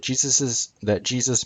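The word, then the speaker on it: Jesús: Maybe the idea that Jesus means Hail Zeus comes from the Spanish name for Jesus, which is pronounced JeSUS.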